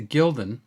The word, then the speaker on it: gulden: material and the currency in netherland is the gildan uh g-u-l-d-e-n ian and sometimes it's spelled in different ways uh in the english